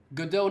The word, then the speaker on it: Godot: Fahir, Godot engine pronounced as Godot, not Godot.